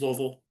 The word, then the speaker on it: Louisville: Um, and that is the way that is how you say Louisville. It is not Louisville and it's not Louisville. It is Louisville.